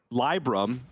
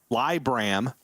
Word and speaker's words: Libram: or download it and libram has a negative three rating oh lie bram has a negative five rating libra has a zero rating so equal of both votes and libram has a nine now d shaman well